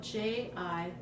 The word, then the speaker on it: jicama: It's spelled Jicama, jicama.